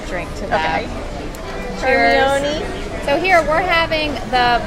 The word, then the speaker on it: Hermione: It's spelled kind of crazy. Hermione. Like I would read it because I read all the books before the And you're movie. like, oh, Hermione.